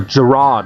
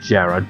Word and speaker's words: Giraud: care of an errand a Giraud not Jared Gerrard or rarrrr get the pronunciation down it's a takeout greetings